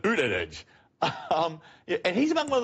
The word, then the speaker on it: Buttigieg: He pronounces it Buttigieg.